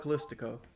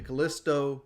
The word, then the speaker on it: Callisto: go protocol isto protocol whoa he pronounced it correctly I don't know why I call it callistico the Callisto protocol like four [ __